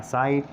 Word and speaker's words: cite: जब चेक करता हूँ तो C के बाद I आया है, I आ जाए तो C सा की साउंड देता है, का की साउंड नहीं देता तो ये बनेगा साइट, लेकिन मुझे लिखना था